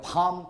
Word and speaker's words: palm: For example, 예를 들면 피지족들은 have developed their palm mat. palm, L 발음이 없습니다.